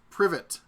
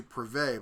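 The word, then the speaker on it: привет: David says, hello in Russian is privet. I don't know how to pronounce it. Privet. I know how to speak French, so I keep wanting to turn something like that into privé, but that's not right.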